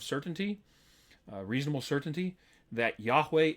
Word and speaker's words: Yahweh: uh reasonable certainty that Yahweh is the proper pronunciation if you want to say Jehovah more power to you all right um that VA that V that's a modern innovation in terms of pronunciation of Hebrew letters from what we know it was a w sound it was a sound away right so um but